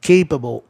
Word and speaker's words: capable: Então, eles preferiram que o A de CA fosse pronunciado E, capable.